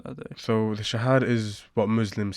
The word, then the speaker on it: Shahada: it's Shahada.